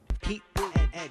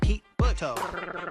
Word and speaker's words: Pete Buttigieg: Sound it out. It's not Pete Butto. Here's how it's pronounced. It goes Heat, Boot, and Edge.